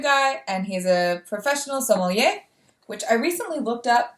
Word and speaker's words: sommelier: they're the new guy and he's a professional sommelier which i recently looked up am i pronouncing that right i believe so yeah that's